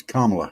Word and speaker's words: Kamala: It's Kamala Harris. She doesn't like it when you get her name wrong.